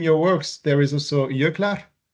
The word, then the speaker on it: Jöklar: And in your works, there is also Jöklar. Jöklar, J O with Oh, Jokter. points. Yes. I pronounce it the Icelandic way, but maybe it's No, you're correct, of course, yeah.